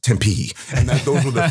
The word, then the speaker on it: Tempe: two instructions oh the third one was it's pronounced Tempe and that those were the three things that